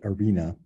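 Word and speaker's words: harena: the head gladiator trainer arena means sand literally but arena they had this age but they didn't say it they didn't pronounce it um in this case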